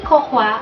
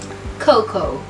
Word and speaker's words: cocoa: Hindi kokwa ang tamang bigkas sa salitang yan. Ang tamang bigkas sa salitang yan ay Coco. Pakiulit. Coco. Coco. Hindi binibikas ang letter A sa salitang coco. Hindi mo siya bibigasin na cocoa. Kaya ang tamang bigkas ay coco.